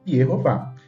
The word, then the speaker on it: Jeová: forte camats ou câes então a pronúncia em hebraico Jeová Esse é o nome